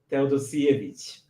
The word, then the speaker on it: Teodosijevic: Teodosijevic. Teodosijevic, but you were so close, and I'm amazed at how you pronounce it, to be quite honest. So. Okay. Say it for me again. Teodosijevic.